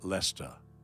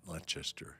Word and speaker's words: Leicester: Yeah, and now let the weak say, oh, Julie corrected me, it is pronounced Lesta. Not Leicester.